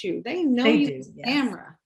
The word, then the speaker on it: Tamira: It's Tamira. I like it. Good old Scottish name. You've been on several times before, so everybody knows you. They know you, yes. Tamira.